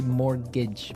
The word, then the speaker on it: mortgage: with a t yeah it has a t in it but you don't pronounce it you say mortgage morage so not Mort